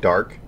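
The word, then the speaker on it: DARQ: And one of them that I'm really looking forward to is called Dark, which is spelled D-A-R-Q, which is made by Unfold.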